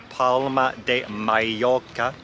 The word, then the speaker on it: Palma de Mallorca: Being back here, or I think the proper way to say it is Palma de Mallorca, brings back memories from my first contract now.